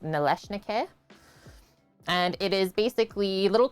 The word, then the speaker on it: Nalysnyky: So the one that starts with N is pronounced Nalysnyky.